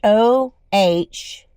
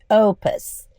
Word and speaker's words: Oupes: I set up the battery stations so you can see power stations, and as you can see, it says Oupes. It's pronounced Ohpus, Opus.